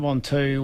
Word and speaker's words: Ventoux: Stage 15, and excuse my pronunciation here, Del, but is it Mount Ventoux? Mount Ventoux, Ventoux.